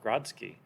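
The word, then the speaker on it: Grodziskie: Like for example, today I'm brewing a Polish-style Grodzki. I Nice. don't even know if that's pronounced the correct way.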